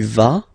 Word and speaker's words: vas: Basically, you pronounce it like for the tu because you don't pronounce the final S. Okay, il va, elle va. Okay, je vais, tu vas, il va, elle va.